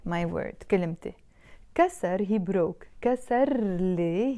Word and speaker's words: كلمتي: We don't pronounce that ت مربوطة. But the moment I add the a, my, كلمتي, I'm not saying كلمة anymore. I have to pronounce the ت مربوطة. I say كلمتي, my word, كلمتي.